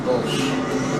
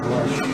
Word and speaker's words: BLSH: I was pronouncing it bullshit. Because I didn't know how it was supposed to be pronounced. BLSH? Yeah, I asked him on stream one day, he said pronounce it blush.